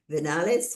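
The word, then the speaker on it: Viñales: Um event on the following day, we take a tour of the Venales Valley. Is that how it's pronounced?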